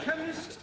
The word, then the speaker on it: chemist: me k e n chemist does not begin with a k it sounds like it begins with k CH H but that